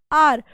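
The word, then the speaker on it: hour: Because यहाँ पर एच की साउंड जो है वो साइलेंट है, आर अ की साउंड आ रही है।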